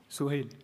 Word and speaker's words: Suhail: Suhail.